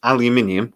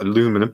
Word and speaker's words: aluminium: much hotter and the problem with aluminium or aluminum for our american friends because they can't say it correctly is that when aluminium